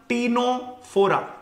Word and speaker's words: Ctenophora: आपको रिमाइंडर दे दूं इसकी स्पेलिंग स्टार्ट होगी सी से पर इसका प्रोनाउंस होगा टी से टीनो फोरा ठीक है सो you will write the सी बट you will not pronounce it अब इंग्लिश में पता